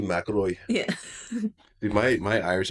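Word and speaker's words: McIlroy: Actually, if you think about that, you say it correctly with the accent. Aaroy Maroy.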